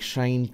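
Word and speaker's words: sinh: read sign cost and it becomes like shiny harsh tension and that's actually the right way to pronounce this some people called sin sex or something like that okay it's up to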